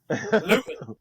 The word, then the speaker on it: Luton: Luton. It's Luton. That's the right pronunciation.